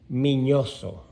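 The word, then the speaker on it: Miñoso: is satorino orestes armas minoso because it has a an accent on the end so his real name is minoso or estes minoso and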